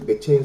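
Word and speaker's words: McCheyne: 우리가 지금 성경 읽기를 맥체인 성경 읽기를 하잖아요. 맥체인이 뭐냐? 맥체인은 로버트 머레의 맥체인 맥인지 미국식 발음되죠. 스코티라는 사람이니까 뭐 케인 해야 될 거예요.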